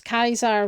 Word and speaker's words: Caesar: Um, you'd also hear them referring to him as Kaisar, which is the actual kind of pronunciation of the time. Caesar is the kind of more westernized pronunciation of um or the more anglicized pronunciation of the name Caesar.